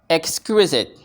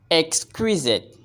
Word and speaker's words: exquisite: in the word It produced to make the pronunciation easier we can consider only two sounds say sciss scissors scissors scissors exquisite exquisite exquisite how many sounds do you hear exquisite exquisite we have three three sounds x q